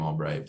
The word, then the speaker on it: Albrecht: me on Instagram at Albrecht 7 is how it's spelled I pronounced my last name Albright but at nolanobright seven